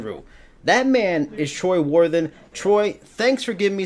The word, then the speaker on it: Worthen: Troy Worthen.